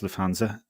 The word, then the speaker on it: Lufthansa: So Meta, how do you pronounce this flight company? Lufthansa? Yeah, I believe it's Lufthansa.